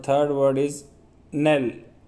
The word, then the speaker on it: knell: एंड the third word is nail, के silent रहेगा इसमें, NELL, nail, KNELL, nail is a noun, it's Hindi meaning is समाप्ति, and final blow, आखिरी झटका हवा का।